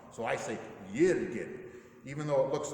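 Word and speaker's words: Jürgen: of official about it you have to pronounce the theologians name in their native tongue so I think year to get even though it looks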